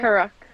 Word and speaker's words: Karuk: Is that am I pronouncing it right? Karuk. Yeah. Karuk. Kuruk. Yeah.